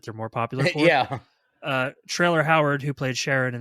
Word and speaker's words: Traylor: Except it's spelled Traylor. Still, it's like Taylor, but with trailer. Yeah. It's Taylor with an R.